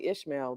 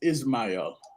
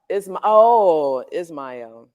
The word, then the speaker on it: Ismail: I want to say Ishmael, but how do you say your name? Because I I, always kill people's names. my name is Ismail. Ismail.